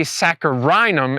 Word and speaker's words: saccharinum: and Freeman hybrids uh that would be saccharinum instead of uh saccharum there's an extra syllable in it and I don't have